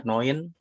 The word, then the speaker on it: neun: Terus tadi cara bacanya udah betul kemudian EU baca OI ya, Neun, bukan Neun tapi Neun.